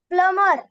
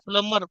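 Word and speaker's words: plumber: एम बी इ आर प्लमर प्लमर आता प्लंबर प्लमर हा शब्द बऱ्याच विद्यार्थ्यांचा चुकतो प्लंबर म्हणतो आपण कारण स्पेलिंग मध्ये बी आहे बी चा उच्चार करतो तर बी चा उच्चार करायचा नाही प्लंबर नळदुरुस्त करणारा करणारा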